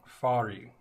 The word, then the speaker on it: Farih: Farih. Farih. Sort of. I guess it's a Middle Eastern kind of thing. Roll the R.